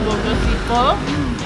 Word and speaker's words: Bogoshipeo: Tulisannya ya Boko Sipeo, tapi bacanya Boko Sipo dan Bobaca.